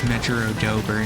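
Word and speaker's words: Mejiro Dober: It is pronounced like a J, so it's Megarodober. Okay, so it's Megarodober and Megiro McQueen.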